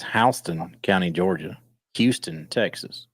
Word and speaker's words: Houston: as Houston but it's Halston County Georgia Houston Texas spelled the same but not the same so so so I'm